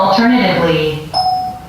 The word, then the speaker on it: alternatively: 자, 여기서 이제 우리가 챙겨봐야 되는 발음 기호들이 몇 개 있는데요. 자, 맨 앞에 있는 발음 기호부터 보면 C를 이렇게 뒤집어 놓은 것처럼 생겼어요. 자, 이거는 우리가 여러 가지 영상을 통해서 연습을 해봤는데, 복습 담아서 발음하는 그런 간단한 팁을 말씀을 드리면, 자, 이 모양은 어처럼 위아래로 살짝 벌려주시고 소리를 아처럼 내보시라.